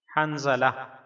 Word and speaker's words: حنظلہ: آپ کو غسل دیا۔ تلفظ اور اعراب: ہا پر زبر، نون پر جزم، وا پر زبر، لام پر زبر اور ساتھ ہا پر جزم، یعنی ہا نون زبر حن، زا زبر زا، لام ہا زبر لا، حنظلہ۔ معنی